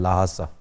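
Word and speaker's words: Lhasa: H pronounce नहीं भी करते लेकिन ज्यादा किया जाता है। लाहासा।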